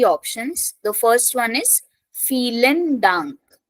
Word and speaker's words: vielen: The first one is vielen Dank. So again, starting from V, pronunciation F.